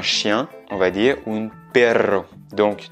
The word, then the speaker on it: perro: Et si on dit un chien, on va dire un perro. Donc, tu peux voir que j'exagère, j'accentue un petit peu plus la prononciation du R parce que c'est un double R tout simplement.